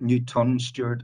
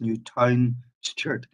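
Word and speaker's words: Newtownstewart: stewart is spelled correctly it's not newton stewart it's new town shirt and by the way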